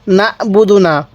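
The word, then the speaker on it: نعبد: ইয়াকা এরপর বলুন নাবুদু নাবুদুনা অনেকে আইনটাকে হামজা উচ্চারণ করি কিভাবে কিভাবে পড়বো নাবুদু হ্যাঁ আপনি বলুন নাবুদু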